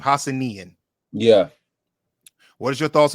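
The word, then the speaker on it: Hassanein: And I believe, son, that's how you pronounce his name. Hassanian.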